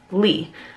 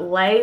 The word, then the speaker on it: Leigh: the most, but it's Lee. Which I guess I could see Slay, L-E-I-G-H, right? So I guess I could see why people would put Lay, but it's Lee.